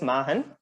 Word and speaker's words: Machenn: adding an end to it so it is pronounced as Mahan Mahan Innovations yeah it was amazing sir according to